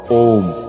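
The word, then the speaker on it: ওঁ: একটি শব্দ দেখতে পাচ্ছি ওম এই শব্দটি আসলে তিনটি বর্ণের মাধ্যমে আসলে উচ্চারিত যেটি আছে স্বর রস যোগ হচ্ছে ম এই তিনটি বর্ণের মাধ্যমে এই ওম শব্দটি উচ্চারিত হয় তাহলে আমরা এর উচ্চারণ শুদ্ধ উচ্চারণ করব ওম এরপর যদি কোন শব্দের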